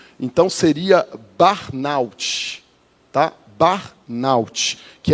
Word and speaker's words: burnout: Você jogar lá no Google, o Google sempre nos ensina a pronúncia, então seria barnout, tá?